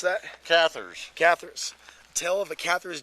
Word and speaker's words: Cathars: So you wrote this book, The Return of the, how do you pronounce that? Cathars.